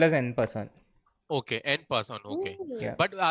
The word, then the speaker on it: en passant: In French, usually the last letter is silent. So it you don't pronounce it. So en passant. En passant.